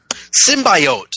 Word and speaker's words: symbiote: wasn't bothered as hell by Jenny Slate's pron pronunciation of the word symbiot? Symbiote.